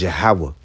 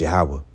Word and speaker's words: Yahweh: His name is Yahweh. It's Yahweh, the existing one, the proper name of the one true God, Yahweh, not Jehovah.